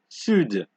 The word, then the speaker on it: sud: So usually for D at the end of the word, you don't pronounce that, but there's some exceptions, such as sud, right?